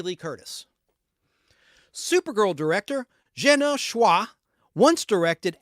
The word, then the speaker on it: Szwarc: That's his first name, pronounced Gino, the T is silent, Gino Schwa, SZWARC, as in cat.